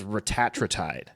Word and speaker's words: retatrutide: think they just have retatrutide at this point, which is actually, side note, now everybody's calling it retatrutide. I guess that's the actual pronunciation of it. It's not retatrutide, it's retatrutide.